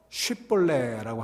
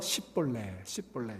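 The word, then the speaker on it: שיבולת: 자, 이 에브라임 사람들이요, 쉬 발음이 안 됐어요. 쉬 발음이. 그래서 쉬볼레라고 하는 단어, 시냇물이라고 하는 뜻인데, 이 쉬볼레라고 하는 말을 에브라임 사람들이 이 쉬 발음이 안 돼서 시볼레 이렇게 얘기했어요.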